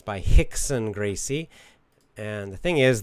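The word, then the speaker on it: Rickson: you don't understand that R is pronounced like an H in English and Gracie is the name is the writer of the book which is it's generally a good book Breathe by Hicks and Gracie you know if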